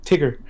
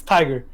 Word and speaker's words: Tiger: No, you said Tigger. Isn't it Tiger Tiger? Woods. Isn't that how you It's pronounce it? Tiger. It's Tiger.